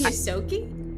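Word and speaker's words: Ysoki: The Plus- only Yosoki? Yes, Okay. that's how that's pronounced.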